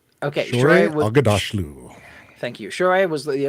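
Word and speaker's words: Shohreh Aghdashloo: I always get this lady's name wrong. Shore Agdashlu. Okay, Shore Agadashlu.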